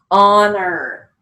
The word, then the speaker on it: honor: come back for e-f-t honor h-o-n come back for o-r and it's not on or it's on er so that's why we